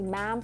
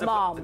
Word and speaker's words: ma'am: The first time she spoke to her, she'd have used the words Your Majesty and subsequently ma'am pronounced like jam. So wait, not mom. Not mom.